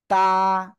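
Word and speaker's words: ت: জিব্বার আগা সামনের উপরে 2 দাঁতের গোড়ার সাথে লাগিয়ে উচ্চারণ হবে তা, তা, তা।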